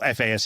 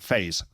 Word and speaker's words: FASE: And then you're going to call it not FAS, you're going to call it phase. That's how you refer to it. In the English speaking world, I think that's the easiest pronunciation.